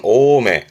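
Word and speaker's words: 大目: 발음은 오메.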